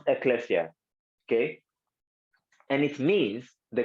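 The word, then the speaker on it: ἐκκλησία: it's literally in Greek it means it is pronounced Ecclesia okay and it means the called out ought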